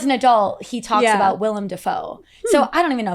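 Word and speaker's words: Willem Dafoe: at this old video at theat X, he pronounced his name as William Defo, which is not how you say it. But now as an adult, he talks about William Defoe.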